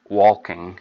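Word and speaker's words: waulking: Another word for fulling is walking, and it's spelled W-A-U-L-K-I-N-G.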